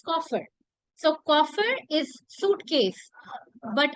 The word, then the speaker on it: Koffer: It's coffer.